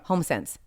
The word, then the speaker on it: HomeSense: HomeSense. 2 syllables.